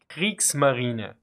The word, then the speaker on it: Kriegsmarine: And probably the best word that contains both forms of the German E is Kriegsmarine. Note that the E at the end is pronounced, unlike in the English equivalent.